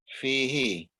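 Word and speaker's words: فيه: Fi tambah huwa, bunyinya jadinya apa? Fihi. Fihi, bukan fihu ya?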